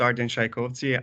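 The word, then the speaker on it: Ardian Shajkovci: that uh all good with the with the pronunciation my name is arden shaikovsi and i'm the director of the american counterterrorism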